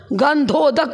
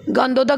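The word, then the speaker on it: गंधोदक: उसको गंधक क्या बो गोदक मत बोल देना द का उच्चारण कर देते हो प्राय करके धनुष वाला ध बोलेगा गंध दक बोलेगा गोदक नहीं बोलेगा य तो अभिषेक लेलो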